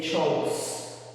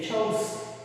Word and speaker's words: chose: Mucho ojo, eh, porque el infinitivo es choose y el pasado es con una o y se dice chose, ¿okay? Este no se dice chose, este con doble o se dice choose.